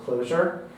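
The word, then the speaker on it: Clojure: and what's the story spelled like that and you pronounce it closure yep and what's the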